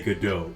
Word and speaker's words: Godot: Oh It's Godot, Adams. Godot. Got it. Godot, Adams. If you're gonna be the judge, you gotta say Godot.